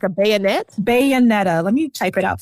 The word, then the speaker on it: Bayonetta: You got to spell it for me. Like a bayonet? Bayonetta.